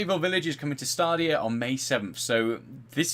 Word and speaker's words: Stadia: So moving on, Resident Evil Village is coming to Stadia or Stadia. I always pronounce it wrong. Stadia, isn't it? Yeah, Stadia. I say Stadia. I say Stadia, but it's Stadia, and I always get pulled up.